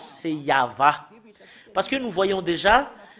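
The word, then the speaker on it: יהוה: Yod, He, Vav, He, c'est ça qu'on le prononce, c'est Yahva.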